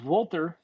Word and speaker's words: Walter: As a German, I have to pronounce it correctly. I know. Oh, I agree. Well done. It is Walter taking on Pete Dunne here, Brandon.